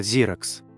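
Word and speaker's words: Xerox: на Советском рынке Кстати это название в оригинале произносится зиракс появился даже глагол ксерить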